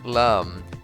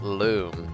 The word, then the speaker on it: Lum: It's Lum, not Loom, I corrected. Lumalotion. I actually, it's kind of weird. Like, I think the official pronunciation of Lums in the Rayman series is actually Loom. At least that's what the Origins manual says.